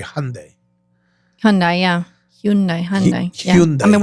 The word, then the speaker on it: Hyundai: How do you say Hyundai?